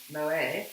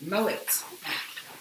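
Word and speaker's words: Moët: it yeah and uh we were told to stop saying it wrong because it's not moment chandon or moae or maui maui it's mullet so here a lot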